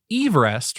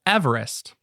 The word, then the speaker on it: Everest: He worried that the local people wouldn't be able to pronounce his surname, which he actually pronounced Everest rather than the modern Everest.